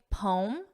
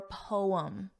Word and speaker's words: poem: You can say poem, 1 syllable, or poem, 2 syllables.